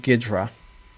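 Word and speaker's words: Ghidra: is really popular recently is called gedra i think this is how it's pronounced uh it is developed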